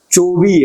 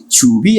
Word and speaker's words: چوبی: ان صندلی چوبی است، لیکن ایرانی لہجے میں کہیں گے تو کہیں گے ان صندلی چوبی است، بلکہ چے کو بھی وہ تھوڑا سا کھردرا کر کے چوبی است.